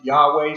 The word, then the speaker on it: Yahweh: one we see here yhwh we pronounce it yahweh sometimes it's pronounced jehovah